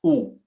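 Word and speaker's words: 惡: evil malicious malevolent but when you use it as a verb in traditional Chinese it sounds different it's ooh and it means an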